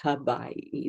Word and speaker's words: Hawaii: And so I came to Hawaii, and it's pronounced Hawaii. The W has a ba sound to it.